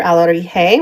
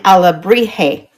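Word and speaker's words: alebrije: Here's another alarije. When I went to Mexico in October, I was saying alabrije. I was pronouncing the B, and they were like, no, that's not how you say it.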